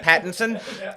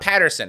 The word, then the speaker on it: Pattinson: love batboy oh batboy robert pattinson um is that did i say it right pattinson yeah robert pat it's not patterson right some guy named